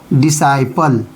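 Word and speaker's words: disciple: डिसाइपल यानी सी silent है।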